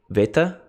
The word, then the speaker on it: beta: We got beta. Now, you might hear uh it pronounced sometimes like a V. Veta.